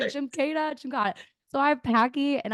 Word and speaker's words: Jimkata: Am I pronouncing it correct? JIMKATA? You got it. Yeah. I was like, right. JIMKATA.